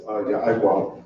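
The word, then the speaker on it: יעקב: How do you say Jacob in Hebrew? Go on. It's Ya'Iqab. Ya'Iqab, and Ya'Iqab means what?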